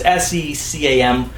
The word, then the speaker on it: SECAM: I don't know how you pronounce it, C-SCAM or CCAM. It's SECAM.